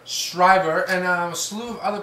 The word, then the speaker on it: Schreiber: We got our movie this week by director Edward Zwick called Defiance, starring Daniel Craig and Liev Schroder and Schreiber. How do you say his name? Schreiber.